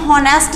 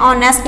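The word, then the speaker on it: honest: आगे देखो, जैसे हम कहते हैं एन ऑनेस्ट, इसको भी हम होनेस्ट नहीं बोलेंगे, एच की आवाज़ नहीं आएगा, एच इसमें भी साइलेंट है, ऑनेस्ट बोलेंगे।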